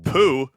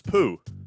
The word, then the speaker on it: Pooh: for a default name pooh is now it's still said it's still pronounced as poo but it's got like the accent on the u so it's still poo